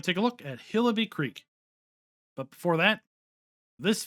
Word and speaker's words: Hillibee: the description welcome to hillaby creek pronounced hill-a-b this is a world